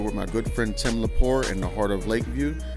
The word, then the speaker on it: Lepore: Is there a T in that? No T. It's not French. It's Italian.